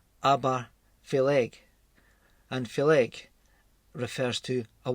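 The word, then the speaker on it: Obar Pheallaidh: But unusually, Aberfeldy, though Aber again means mouth, but in Gaelic it's pronounced Aberfeleg, and Feleg refers to a water spirit.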